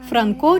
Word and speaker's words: Франко: поета Станіслав люткевич казав Франко говорить до нас уже після Столітньої річниці своєї творчості тобто пізніше наголос на о став цілком природнім для вимови в українській етимології Радянська Пропаганда використовувала